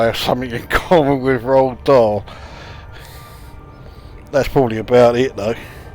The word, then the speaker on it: Roald Dahl: I know for an ounce his cry correctly rock doll and you there you go I have something in common with Roald Dahl that's probably about it though I mean I